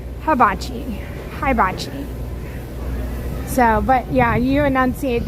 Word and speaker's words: hibachi: Not habachi. Hibachi.